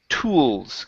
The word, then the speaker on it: tools: Um, and your last one here, okay, is tools. Give me a good L here. Hit the L. Your tongue needs to touch the top of your mouth.